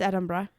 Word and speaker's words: Edinburgh: went to Scotland and we did Glasgow and Edinburgh. My favorite, Edinburgh. Yeah. It's the land of the witches. I am obsessed with it. Edinburgh is how I hear it. Edinburgh. Yeah, it's Edinburgh.